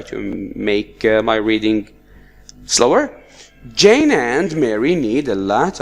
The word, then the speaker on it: Jane: The same case, Jane we do not pronounce the E.